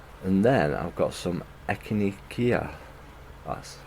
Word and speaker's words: echinacea: And then I've got some echinacea.